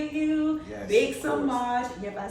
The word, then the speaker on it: Semaj: Semaj.